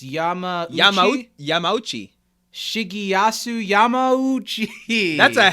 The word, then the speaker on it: Yamauchi: It's Yamaguchi without a G. It's Yamauchi.